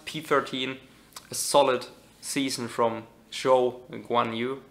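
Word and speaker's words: Zhou Guanyu: So P12 is going to be Lando Norris, P13, a solid season from Zhou Guan Yu. I think you pronounce it Zhou Guan Yu. I always get it wrong.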